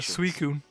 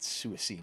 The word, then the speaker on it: Suicune: higher Oh Myra fuder suicune oh yeah for ages we called it sua seen or something like that because we were between